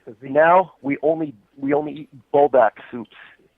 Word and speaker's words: Buldak: Now we only eat buldak soups. How do you even pronounce it? It's so bougie, I can't even pronounce it. It's buldak?